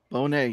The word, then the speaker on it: Bonet: We got the guest of honor tonight, from Nerds of the Round, but also uh, it's pronounced Bonet, right? Bonet, yes, Bonet.